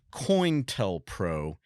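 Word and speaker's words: COINTELPRO: conducted an activity called coint Pro and you'll hear it pronounced differently depending on who you're talking to I always heard it called coin like a coin tell proo it's an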